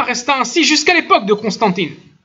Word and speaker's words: Constantin: Et cela resta ainsi jusqu'à l'époque de Constantine. Je vais le prononcer en français plutôt, hein, j'ai du mal. Constantine. Constantin, ceci est resté à l'époque